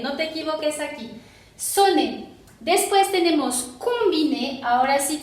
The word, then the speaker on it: sonner: Después aquí tenemos sonner. Aquí tenemos ON, pero no es nasal porque sigue doble N. Entonces sería sonner, ¿ok? Sin sonido nasal, porque aquí tenemos doble N, no te equivoques aquí. Sonner.